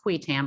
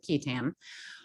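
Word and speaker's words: qui tam: its key tam provisions sometimes pronounced quitan but i'm going with kitam which incentivize individuals with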